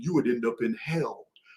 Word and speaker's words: Hel: would end up in hell. It's the real name for the underworld in the Norse mythology. It's not spelled the Christian way, but it's pronounced hell, H-E-L.